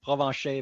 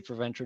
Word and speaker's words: Provencher: In the real pronunciation is Provencher, but you can say Provencher, no problem, if you ever have to say my name.